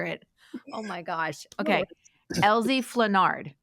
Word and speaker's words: Elzie Flenard: I don't butcher it oh my gosh okay Elie fenard correct yeah it okay Elie otherwise cuz people